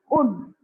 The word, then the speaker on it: would: The L is silent here. L anno uchara iralla. Could, will, would. L again there is no sound.